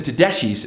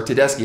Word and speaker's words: Tedeschi: I like Susan Tedeschi, or Tedeschi, however you want to say her name.